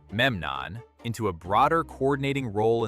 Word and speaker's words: Memnon: Like the elevation of Memnon of Rhodes, pronounced Memnon, into a broader coordinating role in the coastal war.